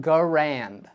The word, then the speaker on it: Garand: controversial in the past starting with its pronunciation I have always said it and will continue to say it M1 Garand every time I make